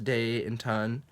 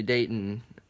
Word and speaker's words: Dayton: cuz it's you know it's two syllables day in ton people always just say Dayton like without pronouncing the T Dayton to date and